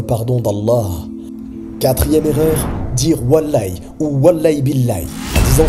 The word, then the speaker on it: Wallah: L'aïe n'est pas un nom d'Allah et il est important de cesser immédiatement le fait de jurer ainsi. La façon correcte de le prononcer est de dire « Wallah » et le mieux